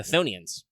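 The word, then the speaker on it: chthonians: silent much like the thonians you don't pronounce the c i was pronouncing thonians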